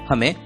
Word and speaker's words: home: है, आवाज नहीं नाम, इसलिए HOME का उच्चारण होगा H की आवाज ह, ओ का नाम ओ, एम की आवाज म। शब्द का उच्चारण होगा हो म, होम।